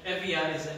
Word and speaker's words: Evia: him a position at Evia is the modern Greek uh pronunciation of it as a as a